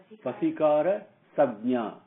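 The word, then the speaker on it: वशीकार संज्ञा: How do you pronounce that? Vasikara Sabnya.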